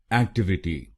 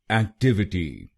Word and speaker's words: Activity: इसकी सही प्रोनाउंसिएशन है एक्टिविटी। एक्टिविटी। इस शब्द में 4 शब्दांश हैं। पहला शब्दांश है AC, दूसरा शब्दांश है TIV, तीसरा शब्दांश है I और आखिरी शब्दांश है TY।